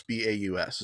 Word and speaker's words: Baus: I assume that it's pronounced like house, B-A-U-S. Is that correct? Correct. Like Okay. Strauss.